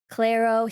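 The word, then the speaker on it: Clairo: He's listening to is it pronounced Claro? Clero.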